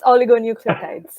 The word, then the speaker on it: oligonucleotides: The focus of her research revolves around the development of novel antisense I'll let Tejal pronounce this. Yeah, it's oligonucleotides.